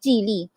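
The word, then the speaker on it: Geely: not Chinese listeners here actually I Ament mispronounce it sorry it's not really it should be Chile Chile so a chile auto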